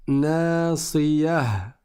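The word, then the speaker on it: ناصية: Et quand on s'arrête dessus, on prononce ha. On ne prononce pas ta.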